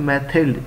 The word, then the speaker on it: Mathilde: मैथिल्ड, आपने इसकी pronunciation याद रखनी है, मैथिल्ड, डी साइलेंट करेंगे, मैथिल्ड लॉयज़ेल.